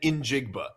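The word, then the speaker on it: Smith-Njigba: It's Jackson Smith and then Injigba.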